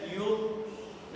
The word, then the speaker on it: योग: नाम है योग, पर हम क्या बोलते हैं योगा। क्या बोलते हैं? इसका सही नाम तो योग है, हिंदी का नाम, संस्कृत निष्ठ नाम।